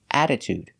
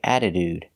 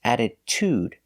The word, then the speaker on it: attitude: sound we don't say attitude it's attitude that's right the second t is pronounced with a true t sound t to add toot